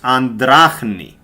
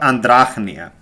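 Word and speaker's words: andrachne: should be pronouncing this it's Arbutus andrachni this is correct and it's not andrachnia um but if only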